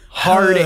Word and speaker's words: herb: You find a green herb. Sorry, you got to pronounce it with the right way. The right way. Hard herb. H.